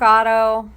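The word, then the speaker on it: Ottow: a huge on Zack Otto is it Otto it is Otto it seems so it's spelled kind of weird anyway I'm not super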